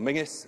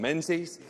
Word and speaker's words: Menzies: Mason alluded to those, that when we see companies like John Mingus, as my mother always told me to pronounce it, not John Menzies, or indeed others, go into foreign ownership, it is sad.